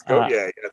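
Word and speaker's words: Gotye: Now, just like how did you pronounce his name? Gautier, somebody I used to know. That was another big one. Yes, Gautier.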